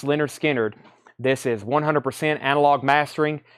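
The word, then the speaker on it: Lynyrd Skynyrd: want a fantastic sound and record this is pronounce Leonard Skynyrd this is 100 analog mastering that is something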